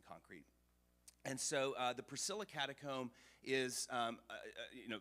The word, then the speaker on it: Priscilla: well-known ones this is called the um Priscilla catacomb or as they pronounce it in Rome Priscilla so the Priscilla catacomb